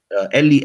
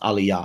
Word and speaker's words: Eli: Eli, Eli, or in the proponents of Lashawan Qadash would say, no, it's pronounced Aliyah, Aliyah.